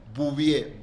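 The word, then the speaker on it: Bouvier: Bubie.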